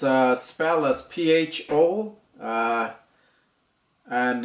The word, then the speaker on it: pho: be making a vietnamese food it's a spelus pho uh and it's pronounced uh fur so it's basically it's a vietnamese uh uh